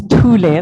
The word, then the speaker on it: Thule: My name is Thule, the H is silent.